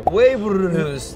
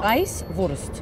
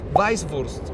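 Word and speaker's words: Weißwurst: En realidad es una doble S. ¿Esto? Ajá. O sea, no se diría como Weiburst. No, Weisswurst. Weisswurst.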